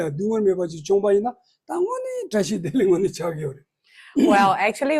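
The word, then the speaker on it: བཀྲ་ཤིས་བདེ་ལེགས: So first of all, usually we Tibetans, our greetings, right, is to say tashi dele. So in Tibetan, there are 2 words with 4 syllables. So tashi dele.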